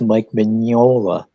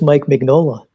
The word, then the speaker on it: Mignola: He's been saying his name wrong for so long that he actually thinks it's Mike Mignola, but it's Mike Mignola.